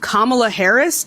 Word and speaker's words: Kamala Harris: Her name is pronounced Kamala Harris.